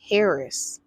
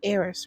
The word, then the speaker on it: heiress: it's a new variant out there it's called Harris no Aries Aries there there it is h-e-i-r-e-s it's heiress right arrows is how you pronounce yeah heiress